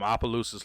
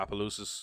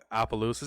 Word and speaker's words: Opelousas: and so I'm from Opelousas Louisiana now Opelousas is quite a ways away from us said I'm gonna be totally honest with you you always hated trying to pronounce it yes Appaloosas it's not I mean I guess